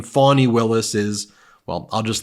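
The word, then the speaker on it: Fani: said the way you should pronounce the name fonny Willis is well I'll just let him say it it's too despicable for me to even say play this clip local cases like funny funny it's spelled Fanny it's spelled Fanny like your ass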